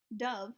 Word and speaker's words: dove: bird called a dove dove rhymes with love nobody wrote about hamsters